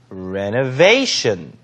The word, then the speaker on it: renovation: 발음 같이 한번 해보실까요? renovation. vation의 강세.